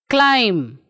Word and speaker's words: climb: pronouncing thumb tome dumb climb so what do you observe children here yes b we are not pronouncing see b is not pronounced after m at is not pronounced